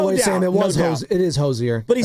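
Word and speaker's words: Hozier: Hosier. Take me to church. It's just pronounced hoser.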